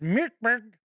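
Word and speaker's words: Mörk Borg: look at cyborg or since murkberg is pronounced mirberg maybe it's cyberg but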